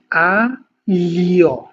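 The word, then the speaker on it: aglio: যেমন হচ্ছে আ লিও, হ্যাঁ, আ লিও, আ লিও না, আ লিও অর্থাৎ হচ্ছে রসুন।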